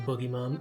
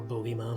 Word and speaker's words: bogeyman: Man, who's, you know, the boogeyman, or bogeyman, however you want to pronounce it.